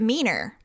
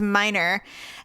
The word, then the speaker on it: Miner: And so when Mackenzie started working there, our last name is Miner, like a coal miner, but he pronounced it Meaner because I guess for French, he thought that was how you pronounced it. And she goes, no, it's minor.